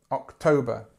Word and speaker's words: October: okay okay so September October October again the stress is here on the second syllable October September October o